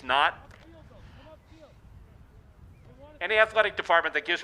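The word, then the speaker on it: Hnat: on the roster where his name is actually spelled H-N-A-T, but they put in parentheses, Knott.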